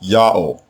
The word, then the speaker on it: Yaho: chick by itself so the name has to be pronounced yaho the Egyptian text reads in full land of the nomads of yaho this is clearly a reference to our people in Canaan and yaho is what the Egyptians heard when our people uttered God's